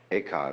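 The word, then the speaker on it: 慧可: Eka is Japanese pronunciation, like Zen is the Japanese pronunciation of the Chinese Chun.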